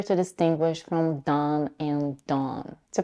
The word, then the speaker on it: Dawn: whole tongue to be down and backwards da da and because the C CAU vowel merger is definitely not Universal let's try to pronounce Dawn with more rounded lips drop the jaw the